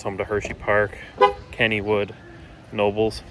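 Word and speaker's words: Knoebels: Of course, home to Hershey Park, Kennywood, Nobles, not pronouncing the K, Dorney Park, and some others that we haven't been to.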